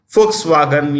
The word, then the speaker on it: Volkswagen: companies like you know Volkswagen pronounce with a written with a V pronounced an F Volkswagen you have BMW they